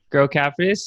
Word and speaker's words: Grocapitus: with me he's the founder and CEO of grow capitis isn't that how you say it Neil that's right girl cafes he's a commercial real estate investment company he's